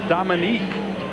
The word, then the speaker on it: Dominic: last tackle now Dominic it's Dominic when you look at it spelled it's Dominique when you pronounce it and to call him